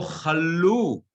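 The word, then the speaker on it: כָּלוּ: That's where you say ki lo chalu. The accent is on the lu, on the milra, it's on the last one.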